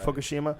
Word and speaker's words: Fukushima: Fukushima.